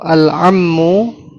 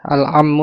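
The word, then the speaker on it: العم: Tapi kalau alammu paman ya pakai ain ya. Ini paman ini banyak yang ketukar. Iya. Alammu dibacanya alummu. Jadi hamzah um alummu ibu. Kalau alammu ainnya fathah ini paman ya.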